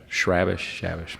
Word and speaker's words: Chrabascz: You know how number 45 for Butler, Andrew, I'll let Eric pronounce his last name. Shrabish.